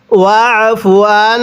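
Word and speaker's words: وَاعْفُ عَنَّا: এরপরে ওফ কিভাবে পড়ব আইনটা উচ্চারণের সময় আমরা গলার মধ্যে চাপ দিয়ে পড়ব তাহলে আইনটা সহি শুদ্ধ উচ্চারণ হবে কিভাবে পড়তে হবে ওফুয়ান এরপরে ফিরলানা পড়ুন আমার সাথে।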